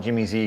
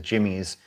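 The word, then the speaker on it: Jimmy'Z: uh saying you know we used to call it Jimmy Z because we didn't know better that it was Jimmy's um I've always heard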